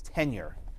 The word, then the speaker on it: tenure: TN ure I'm sorry it's not 10-year its tenure I'm sorry I should I should spell that out but tenure of office like that not it wasn't a ten year position was tenure like you